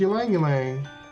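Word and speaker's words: Ylang-ylang: Yep, it's Ylang Ylang. Look, here go Misha with the pronunciations.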